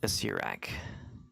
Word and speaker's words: Asirak: Acerak. Ace. Is that, am I pronouncing it right? Acerak? You get inspiration for finding that out, and it is pronounced Asirak.